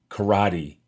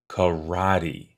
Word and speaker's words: karate: also popular among children most americans pronounce the word karate with the accent falling on the second syllable karate another less popular pronunciation